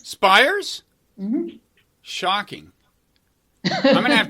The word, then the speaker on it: Spiers: video and audio podcast and you are Elizabeth Spears actually how do you wait how do you pronounce it spires spires mm-hmm shocking I'm gonna have to totally reassess